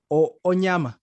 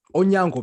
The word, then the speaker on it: Onyango: I don't want to get this man's surname wrong. Onyama. Yeah, Onyama, yeah. Yes. Onyango, my bad.